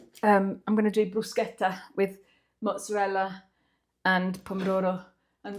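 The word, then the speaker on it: bruschetta: Okay, I'm going to make some brusqueta. Non bruschett. Bruseta, that's how you pronounce it.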